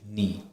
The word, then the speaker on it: knee: With K, the knee is KNE, we just pronounce it as KEE, that is knee.